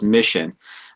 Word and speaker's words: MiCHN: Originally, the organization had a different name, but somewhere along the line, we rebranded it to MiCHN is our acronym, which we pronounce as Mission.